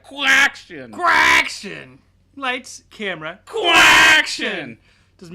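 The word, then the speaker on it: Quacktion: Yeah, and you have to say it like Quack-tion.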